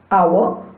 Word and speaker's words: hour: Words like our, honest, honor, or honorable, though begin with a consonant, an initial consonant h is not pronounced.